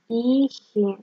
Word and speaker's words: ich: Ich произносится. Ich. Мягкий знак в конце.